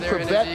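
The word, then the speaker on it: Chrebet: Wayne Crevette with a silent H.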